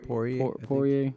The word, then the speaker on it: Poirier: The comment he made to, how do you pronounce this guy's name again? Poirier.